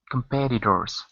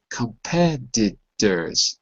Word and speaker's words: competitors: at it again competitors competitors that's right the t's sound like D's D like dog competitors when you say it fast competitors competitors okay